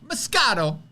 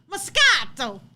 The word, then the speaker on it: moscato: answer is number two say it like an italian moscato moscato give me the pesto